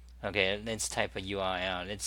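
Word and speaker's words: eww: U-E-W-W, that's pronounced U, I suppose. You know, a lot of people don't like the name, but I actually like it because, you know, it rhymes with www, and it's, you know,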